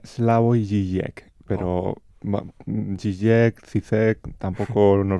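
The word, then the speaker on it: Slavoj Žižek: algún que otro filósofo, por ejemplo, el esloveno Slavog Sisec, creo que se pronuncia así. La forma correcta, si no me equivoco, sería Slavo y Jek, pero Jek Cizek, tampoco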